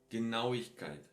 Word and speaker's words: Genauigkeit: So die Quinte, Quit, Genauigkeit. And I said it three times because aui, no? This is how you pronounce it.